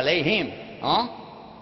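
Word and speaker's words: عليهم: Ghayrul maghdubi alayhum wala dhalin. Whoops. Ooh, yeah, alayhim. Actually, it's both because there is another pronunciation, but the common one.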